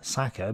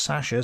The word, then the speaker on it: Sasha: He lists several well-known examples, including Sasha Filipov, whom I called Saka because that's how some people spell it in English, but viewers told me it was pronounced Sasha, so I will now pronounce it Sasha from now on.